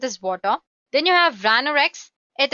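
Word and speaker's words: Watir: Mac Linux you name it then you have water which is pronounced as water it's an open- Source testing tool made up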